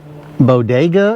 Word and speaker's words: Bodega: Um it's a Bodega is the way I pronounce it b o d e g a and it's the MCD 15 B1 uh mobile refrigerator.